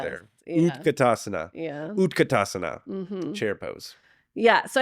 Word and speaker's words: utkatasana: let's do that did I say it right utkatasana yes is chair pose it's actually Fierce pose